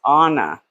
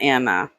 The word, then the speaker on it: Ana: Her name is pronounced Anna, not Anna.